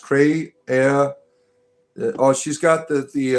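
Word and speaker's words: cré: Cre pronounced Cray.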